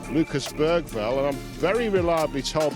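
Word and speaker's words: Bergvall: the man we call Lucas Bergville and I'm very reliably told by local journalists that if you're going to pronounce it in the Swedish way, you pronounce it Lucas Val.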